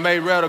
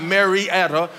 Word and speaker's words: Marietta: If you're from Marietta, then you know you're from Marietta, because it's not Marietta. It's two syllables, Marietta.